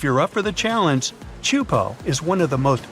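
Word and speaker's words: Teahupoʻo: It's pronounced chupo, and it means broken skulls in Tahitian.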